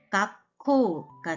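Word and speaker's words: がっこう: 그럼 발음은 각코가 되겠죠.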